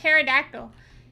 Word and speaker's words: pterodactyl: What about a pterodactyl? Pterodactyl. I definitely didn't spell that right. Also, why are we putting meaningless letters in front of these names? We don't need the P. The P is silent.